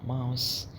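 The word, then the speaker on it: Maus: طيب ام ماوس، مش قلنا او نطق او ماوس زي هاوس.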